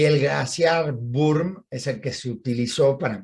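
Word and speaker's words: Würm: glaciación Bum para la burme es el título que le damos se escribe con w con w o con diéresis vale burme vale se se dice bueno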